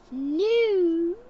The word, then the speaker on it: new: The EW goes ooh. New.